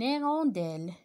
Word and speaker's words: hirondelle: Une hirondelle, une hirondelle. Un habit, un habit. Un cahier. Le théâtre, le thé. Je répète, un homme. Regardez, c'est la même chose. Toujours, je prononce pas la lettre H, d'accord?